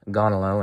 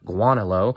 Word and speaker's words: Gaunilo: More Anselm, his Proslogion, or some people say Proslogion, with the replies of Gonilo and Anselm, or Guanilo, or Gaunilo. You know, people pronounce it differently.